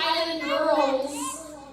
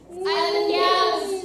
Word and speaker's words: Island Gals: It's not Island Girls. Island Gals. Okay? Gals. Gals.